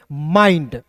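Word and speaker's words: mind: तो यहाँ देखिए एम का म और आई एन डी का उच्चारण दोस्तों आइंड के रूप में करेंगे तो एम आई एन डी को पढ़ेंगे माइंड, ठीक है।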